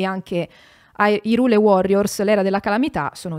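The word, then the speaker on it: Hyrule: Cool de sac Allora la pronuncia ufficiale è irule perché è stata decisa da Nintendo non è colpa mia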